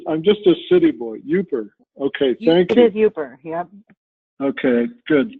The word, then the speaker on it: Yooper: and he indicated that his grandfather was a yupper and I go usually up you know yupper